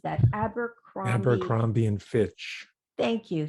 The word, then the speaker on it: Abercrombie: La Senza, he has, Victoria's Secret, he has how do you pronounce that? Abercrombie.